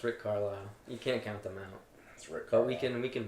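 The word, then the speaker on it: Carlisle: It's Rick Carlile.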